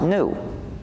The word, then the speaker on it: gnu: so funny it's because according to the dictionary it's pronounced new so somebody started asking